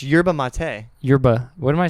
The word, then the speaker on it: yerba mate: How do you pronounce Where are this? you seeing yerbal on this can though? Right Dude. here, yerbal. There's no Yerba. L, There's brother. no L, my guy. It's yerba mate.